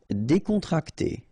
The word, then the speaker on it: décontracté: Décontracté. Okay, so you've got accent aigu here and here, so it's E. Décontracté.